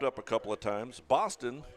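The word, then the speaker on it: Bostyn: Boston, by the way, is spelled B-O-S-T-Y-N.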